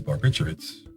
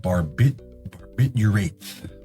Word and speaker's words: barbiturates: All right, so shifting from alcohol to barbiturates. Actually, it's funny, it's like spelled barbiturates, but oftentimes it's pronounced barbiturates, as if there's a W in there, barbiturate.